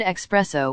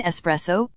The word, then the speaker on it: espresso: advocate constantly no thanks pronounce the word expresso when they mean espresso or especially instead of